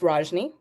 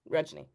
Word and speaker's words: Rajni: If it's people from the United States who are not Indian, it's Rajni. And then people who are Indian, Rajy.